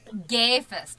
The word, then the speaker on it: Sigafus: tonight we are joined by award-winning author segoffis and i hope i pronounced your last name correct well it was okay go ahead and pronounce it for me would you please it's a gay fest gaifus okay so the s is completely science silence